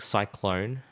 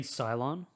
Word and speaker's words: Cylon: you also always think cyclone like from about uh from balsa galactica but then you're like that's the wrong religion you mean cylon xylem ah is that how you say it yeah cylon what's this yeah i